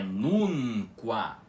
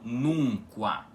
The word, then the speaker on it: nunca: A pronúncia correta da palavra é nunca, com o N puxado, e não nunca. Ou seja, o N não faz nasalização nenhuma com o U.